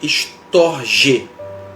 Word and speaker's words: storge: chamado no grego de storge a sílaba tônica no final do gestor G que